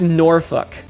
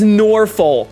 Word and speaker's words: Norfolk: the back, it says, it's pronounced Norfolk. No one says Norfolk. It's Norfolk.